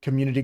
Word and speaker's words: community: I'm really focused on pronunciation lately, especially with the word community, because I've noticed that lately I just go community games, like it's all one syllable. Community. It's got 3. Community. It's got 4.